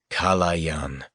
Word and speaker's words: Kalayan: Just that one word. 3 syllables. Kalayan.